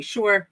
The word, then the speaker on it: Shore: my name is Shore rhymes with entrepreneur and I also work